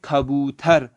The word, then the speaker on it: کبوتر: یہاں پہ اوپر کبوتر، اس کو اردو میں کبوتر پڑھتے ہیں اور فارسی میں پڑھیں گے کھبوتر۔ تو آپ لوگ جب